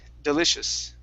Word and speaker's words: delicious: try this word here the word is delicious instead of delicious it's delicious okay all right so deli so here we're gonna we're gonna use an sh here in the middle and end with an s at the end delicious delicious all right